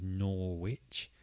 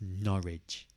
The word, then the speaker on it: Norwich: Some people try to pronounce it as Norwich, but it's just Norwich. Norwich. And the stress is on the first part, so it's Norwich.